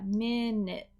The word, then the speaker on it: minute: everyday english okay so the word minute actually has two short eyes we have a short i hear me and this u is actually a short i minute and we have a stop t minute minute and worth